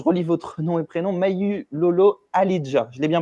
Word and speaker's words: Mawulolo Ahlijah: Mayu Lolo Alidja, je l'ai bien prononcé.